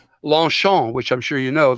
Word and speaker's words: Longchamp: So it's just like, Longchamp, which I'm sure you know, the Longchamp bags, Longchamp, as they pronounce it in America.